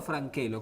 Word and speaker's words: Francello: Y bueno, está acompañado con la arquitecta también, María del Carmen Francello o Franchelo, ¿cómo la pronuncio? En italiano, Franchelo. En italiano, Franchelo. Y nosotros decimos Franchelo para que lo sepan escribir.